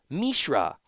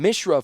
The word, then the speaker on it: Mishra: name of 's brother Mishra I was saying Mishra for two whole books and it's Mishra so if you go